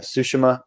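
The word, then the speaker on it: Tsushima: ever heard of the game Ghost of uh sushima I think that's how you say it yeah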